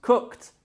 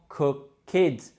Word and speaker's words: cooked: Cook in the past becomes cooked, the same number of syllables, just one, and not cooked, which would be bad pronunciation.